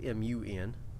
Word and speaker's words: Mun: It's spelled M-U-N. I still call it the moon. Like it's a ooh sound. The U. But, anyway. Some people call it the mun.